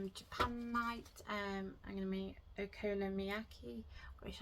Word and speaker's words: okonomiyaki: I'm gonna make okonomiyaki, which I did just Google how to pronounce that. I did. So hopefully I'm saying it. I think it's okonomiyaki. I think that's it.